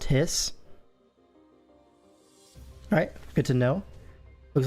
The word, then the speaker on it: HYS: Is pronounced Hiss.